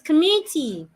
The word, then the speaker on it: committee: commit commit commit I'm am stressing the last part so it's not commit it's committee I'm one of the committee